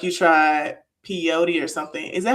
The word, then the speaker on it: peyote: And then you threw up like you tried peyote or something. Is that how you say it? Is it pod? Pey. Yeah, peyote.